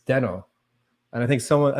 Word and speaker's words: Deno: changed it man so ryan when he first presented it like forever ever ago it was in 2018 was calling it denno and then i think somebody convinced him it should be dino because it's like a little dinosaur guy oh and so oh yeah so the official pronunciation is dino okay so the spelling